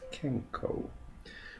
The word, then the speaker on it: 健康: can practice it and remember it's pronounce kenko the next part of